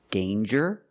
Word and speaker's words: danger: Example, danger and anger. So with danger, we hear the j sound. Danger. There's no nasal sound. There's no m. It's a regular n.